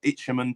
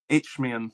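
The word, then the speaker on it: Isthmian: Ichimman Prem I think it is. Mark is that correct how you say it? Itchmian. Thank you. I can never say it. H I S, not H.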